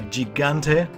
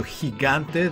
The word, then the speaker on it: Gigante: Goodbye, Gigante, or I should call you Gigante, the real pronunciation.